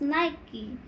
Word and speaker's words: Nike: It's pronounced Nike. It's a piece of Greek art from the Hellenistic period 300 before Christ to 30 before Christ. So, 2-2. Yeah. That's for me. So Mm. now we're tied. But it's like Nike of Samothrace but pronounced Nike. Yeah.